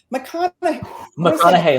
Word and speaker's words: McConaughey: McConaughey, like the actor. That's what I thought. Okay. Easiest way to remember.